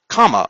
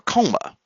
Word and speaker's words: coma: aberrations to the probe, most notably comma or coma, okay, depending on how you want to pronounce it.